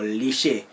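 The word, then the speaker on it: Liche: Is that pronounced right? Lish or lishe? Like lish. Yeah, lish purple.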